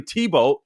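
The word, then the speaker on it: Thibault: The FBI's this guy Tim Tebow, not like our Tim Tebow. I guess the T is silent in his name, but it isn't the athlete, the Christian whom I love.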